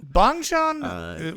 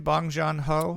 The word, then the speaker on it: Bong Joon-ho: Bong Joon, how do you say his name? Bong Joon-ho.